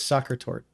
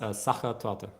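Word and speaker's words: Sachertorte: I always thought I was soccer tort. It's saka to Okay, I was close.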